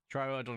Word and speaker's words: Troodon: Troodon is the correct.